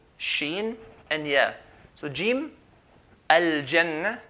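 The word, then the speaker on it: الجنة: So jim, al-jannah, like the J in English.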